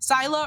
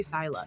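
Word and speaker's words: Scylla: angel of the Abyss Sila or Sila however you guys want to pronounce it I say Sila the sea monster from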